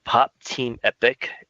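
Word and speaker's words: Pop Team Epic: I think it is pop team epoch is how you pronounce that all time yeah pop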